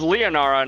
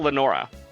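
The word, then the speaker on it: Leonora: Her name is Leonara, not Lenora.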